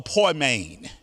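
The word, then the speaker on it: poimen: that house this person again was called the poi main it's spelled p-o-i-m-e-n as you see on your screen he was a poi main our english bible translates poor maine as pastors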